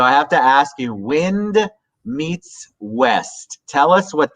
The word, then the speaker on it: Nguyen: Wind sounds my last name Nguyen, Nguyen. A lot of folks don't know how to pronounce that because it's not a standard last name necessarily. But Wind, so people don't mispronounce my last name.